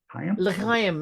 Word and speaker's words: L'chaim: You worked the door, let me see if I pronounce this one right, for Club Le Chaim? L'chaim, yeah, it means life, and yeah, it's was